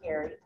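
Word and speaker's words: Geary: sister colleen gary g-e-a-r-y spelled g-e-a-r-y pronounced gary uh so i reached out to colleen gary pat she and i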